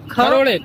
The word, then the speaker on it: Kharode: Kharode. Kha from the epic lotus. Yeah, so no, not la, it's kha. Catch you later. Kha as in Khan.